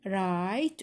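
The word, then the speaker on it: write: محرجه صيغه السؤال شلون رايت اكتب هنا الدبليو ما تلفظ تلفظ تلفظ رايت راف هذ البي اتش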